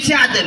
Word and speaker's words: Tchad: Ce pays, on ne prononce pas comme ça, s'il vous plaît. Je viens du Tchad.